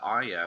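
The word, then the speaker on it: Arya: of Thrones and yes I always say oh yeah because I'm pretty sure that's how it's pronounced but everyone corrects me with Aria I'm like oh it just doesn't sound right for that world so I go with aria anyways but she is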